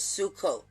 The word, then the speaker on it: Sukkot: it fits this energy perfectly because if i'm pronouncing it right it's sukkot the beginning of sukkot and it lasts for